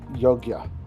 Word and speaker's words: Yogya: I'd probably need a little bit more practice to pronounce it properly, but Yogyakarta. Yogyakarta? Yogyakarta. Often called Yogya.